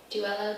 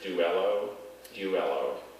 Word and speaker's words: duello: noun yes duelo duelo duello g wello are there any alternate pronunciations just the two there's duelo is this from the